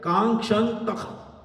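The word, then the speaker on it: काङ्क्षन्तः: So the right pronunciation of this sloka is Kankshantah. Kankshantah. There should be Kha in between.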